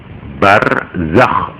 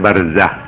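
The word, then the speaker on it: برزخ: Barzakh itu ejaannya ya. Barzakh, Z, Zai, Kho, harus ngorok. Nek moco ngorok. Barzakh, nah, harus begitu supaya kelihatan Kho. Nggak boleh barzah. Kalau barzah itu hak.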